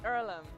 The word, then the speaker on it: Earlham: Is it pronounced Earlham? It's Erum and it's a place for amateur farmers, athletes, artists, barefootters, world changers, dogooders.